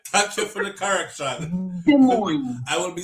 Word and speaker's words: Des Moines: Like, Des Moines-es. I try to say it correct, but it won't come out right.